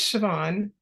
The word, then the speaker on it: Siobhan: your first name hi you pronounced it perfectly it's Siobhan and it's an Irish name and I believe my